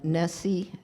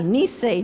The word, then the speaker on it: Nisei: a proud daughter of a mother of the nessie generation and a father Nisei I pronounced it when I read it to myself I got it right that she just corrected me nice a generation and a father who